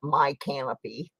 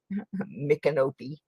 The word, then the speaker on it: Micanopy: And then there's Micanopy, Florida, and people always pronounce it My Canopy, Micanopy.